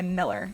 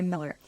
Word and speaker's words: Mueller: And it goes by Miller. So a lot of locals here say Miller. It's spelled M-U-E. L-E-R.